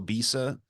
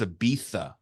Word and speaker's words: Ibiza: No, what they do though is like any S sounds, they say like a TH. So Ibiza, how we would call Ibiza, the city in Spain, it's Ibiza, the way that they say it.